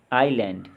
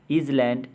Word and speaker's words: island: लगाइए कि कौन से अक्षर अनुच्चरित यानी कि साइलेंट है। ASTHMA, अस्थमा, इसको हम बोलेंगे एस्मा, ना कि अस्थमा कहेंगे। HEIR, एयर, ISLAND, आइलैंड, DOUBT, doubt, REIGN, rain, WRAPPER, wrapper, WEDNESDAY, यानी कि वेंसडे।